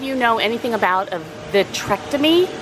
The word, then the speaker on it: vitrectomy: And if any of you know anything about a vitrectomy, I keep calling it a vasectomy, it's not that. It's she's having a vitrectomy, I think is how it's pronounced, because of a tear in her, I want to say retina.